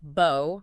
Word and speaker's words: bow: And it can be pronounced bow rhyming with now or cow.